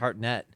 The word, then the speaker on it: Hartnett: Josh Hartnett was her son, and Michael Myers. Did you hear how he came said his to name? kill Josh them. Hartnett.